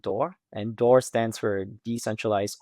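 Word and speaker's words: DOR: One of which is called T assets and the second of which is called door and door stands for decentralized offer rate. So it's spelled D O R.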